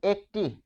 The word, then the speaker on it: একটি: দেখুন একটি যখন আপনি টি নির্দেশক ব্যবহার করবেন তখন এ থেকে যাবে উচ্চারণে এখানে কি টি নির্দেশক নির্দেশক তাই হচ্ছে একটি। আবার যখন বলছেন একটা একটা টা বললে এ হয়ে যাবে। এর উচ্চারণ এরকম হয়ে যাবে। একটা তার মানে টা বসলে এ।